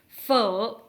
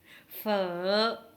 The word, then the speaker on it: Phở: dans la prononciation fort nous avons un accent comme un point d'interrogation ou comme un serpent fava et confiance fort souvenez-vous de points d'interrogations